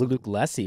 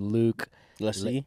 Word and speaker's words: Lacy: I thought it was Luke Lacy, but it's actually Luke Lacy.